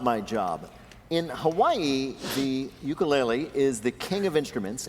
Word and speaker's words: ukulele: The correct Hawaiian pronunciation of the instrument of which you are a master is ukulele.